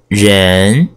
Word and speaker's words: 人: Jen Jen means people Jen second tone tongue is second tone from a lower pitch to a higher pitch so this think of the philosophy behind this character Jen when we were born